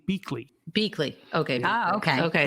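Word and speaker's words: Biechele: That's Bicelli, right? They pronounced his name Beakley.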